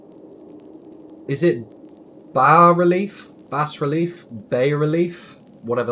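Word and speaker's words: bas-relief: You think the S is silent, so it's ba. It's a bas relief. Ba. Ba like a sheep.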